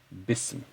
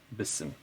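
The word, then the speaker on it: بسم: This is a hamzatul wasl, meaning it will not be pronounced if there is something preceding it with a haraka. Okay, so you have bi, you have this, and you want to connect it to ism, then it would be pronounced bism, even if you would keep it in writing like this, bism.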